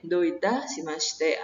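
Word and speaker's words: どういたしまして: gozaimasu itu dibalas dengan iye doitasimashite Gimana cara bacanya iye doitasimashite atau dijawab iye kochirakoso iye kochirakoso kira-kira mulai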